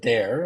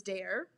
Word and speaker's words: Daré: pronunciation difference though in the way that I pronounced it so I called it dare and then you said Dar well the tickers yeah so it's both so both are correct so the ticker symbol is dare D and and um and very much that